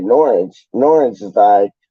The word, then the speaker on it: Norwich: bits and bobs but he always pronounces norwich like nor witch it's like random man